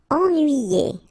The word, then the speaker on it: ennuyé: Ennuyé. Okay, so first en, then nuit, then yé. Ennuyé.